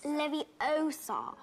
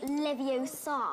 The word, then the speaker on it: Leviosa: someone's eye out besides you're saying it wrong it's Leviosa not Leviosa hey guys welcome back